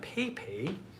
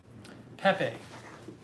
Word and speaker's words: Pepe: this back pay pay it's not pay pay pay pepe pepe pepe hold on